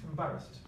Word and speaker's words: embarrassed: So we have an unstressed first syllable, im or then ba, wrist. So the final sound is T. Can you repeat, please? Embarrassed.